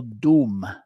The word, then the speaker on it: dum: Ma Dumavati's seed mantra that we'll be using both in our puja and our meditation is the syllable doom spelled either du m or d o m.